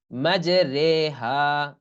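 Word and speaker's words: مجراها: রে র খারা জের এখানে ঋ না কিন্তু এখানে রে শুধুমাত্র কোরআনের একটা জায়গায় এই উচ্চারণটা হবে যে মাজরে মাজরে র র খারা জের রে হা আলিফ জবর হা মাজরে হা হুম বিসমিল্লাহি মাজরেহা কোরআনের একটা আয়াত আছে শুধুমাত্র ওখানেই এই র টা এরকম পড়তে হয় আর অন্যান্য সব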